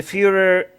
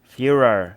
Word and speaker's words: Führer: The Führer, the Führer, is that how I say?